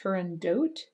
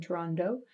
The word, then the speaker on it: Turandot: he died and sometimes the opera is pronounced turandot rather than toronto that ending t it has good arguments for both sides i'm going to say toronto because that's the way that i've learned and uh and that